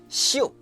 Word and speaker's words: xiu: It sounds similar to the English word show. Actually, show is another borrowed word from English words show. Xiu, show.